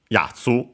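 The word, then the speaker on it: 奴: immediately put a noun, yatsu, cioè the simple, the usual term we have seen for fellow, guy, and so, chap, cioè guy. Then we have accented on the first mora, so I pronounced it.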